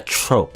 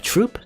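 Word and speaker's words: troupe: like more like a trope I guess not trop troop troop troop a t oh no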